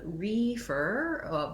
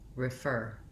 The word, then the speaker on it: refer: sound and instead of reefer with if as though we're stressed on the first syllable that letter e is going to say a short lax sound refer refer so similar to the